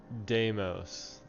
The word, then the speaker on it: Deimos: Deimos.